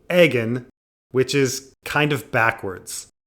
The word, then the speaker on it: Aegon: And then Egg reveals his name, Egg, which Dunk doesn't realize is short for Aegon, and completely thinks it's because his bald head looks like an egg.